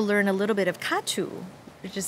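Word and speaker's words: Ca trù: And then able to learn a little bit of Katu, which is spelled, in romanization, C-A and then T-R-U.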